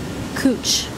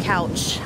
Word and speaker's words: Couch: parks this one is called kuch not pronounced couch I read about it